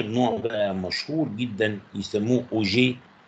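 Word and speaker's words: Auger: في اخر نوع بقى مشهور جدا يسموه اوجي ريكومبينيشن مش اوجير النطق بتاعها اوجي اوجي ريكومبينيشن.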